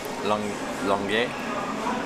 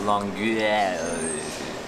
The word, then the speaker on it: Longueuil: It's just so many vowels, I don't know what to do with my mouth. Longueuil. Longueuil. I don't think you pronounce most of it, you kind of just like slur it out.